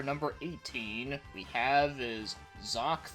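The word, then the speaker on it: Xak: And as for number 18, we have is Zoc 3. Now you're probably wondering, Zoc? Like how do you spell that? It's like X-A-K. What, you thought it started with a Z?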